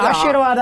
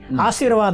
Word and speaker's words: ಆಶೀರ್ವಾದ: ಆಮೇಲೆ ಆಶೀರ್ವಾದ ಅಂತ ನೀವು ಬರೀರಿ, ಆಶೀರ್ವಾದ ಅಂತಾರೆ ಅದು, ಕೆಲವರು ಶಕಾರ ಉಚ್ಚಾರಣೆ ಬರೋದಿಲ್ಲ.